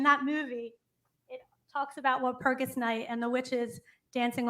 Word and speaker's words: Walpurgis: Is it Walpurgis or Walpurgis? The G is actually hard, so it's Walpurgis. Walpurgis.